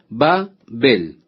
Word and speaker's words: Babel: Por esto fue llamado el nombre de ella Babel. O podemos pronunciar también Babel, como usted prefiera.